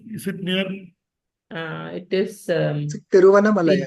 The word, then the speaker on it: Tiruvannamalai: It is spelled Ginge. Which district? Where is it near? It is Tiruvannamalai. Tiruvannamalai district.